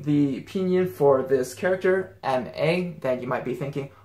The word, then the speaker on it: 吗: And it actually sounds a lot like the ma in 什么. You don't really enunciate it very much. Just like ma. Just drop your jaws and pronounce it pretty lazily, if that makes sense.